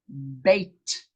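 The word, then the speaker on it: Bet: Number 2, bait. The letter's name is bait. Bait. It's like I bite something.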